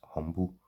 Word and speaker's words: umbles: Often the umbles, pronounced as humble, were baked into pies and served to the low-class men who considered it a humiliation.